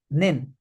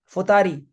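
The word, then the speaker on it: 二人: The Chinese reading is nin. So to count one person, it is htori. Be careful. It is not ichin. It is htori. Two persons are futari. It is not nin. It is futari.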